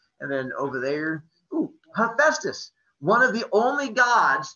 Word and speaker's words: Hephaestus: guys pronounce creepy again hephaestus not hepatitis the the god of diseases just like the next one over there is hermes not herpes the other god diseases and